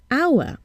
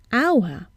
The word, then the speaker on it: hour: need to listen at how the word is pronounced for example our we see an age but we hear a vowel South at the beginning our and not power so what do we do